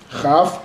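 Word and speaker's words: כף: Het é mais aberto. Het. Chaf, mais fechado. Chaf.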